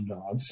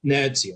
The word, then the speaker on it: Nancy: As you know, I've been to Nantes, well, the French call it Nantes. I mean, it's spelt Nancy. I mean, don't get me started on the French saying Nancy is Nantes.